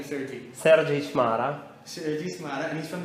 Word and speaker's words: Sergiy Chmara: Sergiy Chmara.